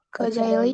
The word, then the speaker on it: Kocaeli: Kocaeli University. Ya, Doru. Benar ya. Jadi ini kalau nggak ada ekor dia bacanya J. Jadi Kocaeli bukan Kocaeli ya.